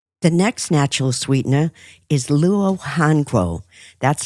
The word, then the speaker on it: luo hanguo: The next natural sweetener is luo hanguo. That's spelled Luo, new word HANGUO.